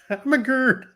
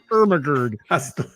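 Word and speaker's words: Irmgard: Immag. It's spelled I R M G A R D. I read it as Hermagard.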